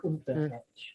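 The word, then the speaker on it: Underetch: We almost say it like a T, like unter etch, like almost like German Okay, yeah. accent in it, kind of thing.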